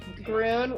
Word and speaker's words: Grön: my first question would be how do you pronounce the name of your company it's grim groon like g r u n groon and it